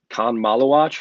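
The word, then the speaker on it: Khaman Maluach: it's is it Khan Malawach? I believe Yeah, that's how it's said. Common Malawach.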